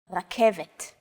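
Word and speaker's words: רכבת: Rakevet, rakevet. Chances are your pronunciation was pretty spot on. The K, V, and T sounds are practically identical to English.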